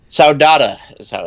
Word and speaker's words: saudade: Saudade is how it's pronounced, a feeling of longing, melancholy, or nostalgia that is supposedly characteristic of the Portuguese or Brazilian temperament.